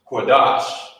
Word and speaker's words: Qadash: You wouldn't say Qadasha because of this connector. These connectors, like I said, they combine two of the characters together, and you will pronounce it as such. You will pronounce it the same way. So, like it was combined. So instead of saying the Shah, Qadasha, it's connected at the bottom. You say Qadash.